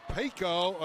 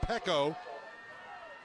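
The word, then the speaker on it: Peko: So Pico, it's actually pronounced Pecco.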